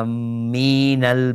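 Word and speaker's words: آمّين: Nah, di surat Al-Maidah di ayat 2 di sini sebutkan wala aminal baital haram. Jadi bacaannya itu amin. Bacaan tasydid dan mat pada mim.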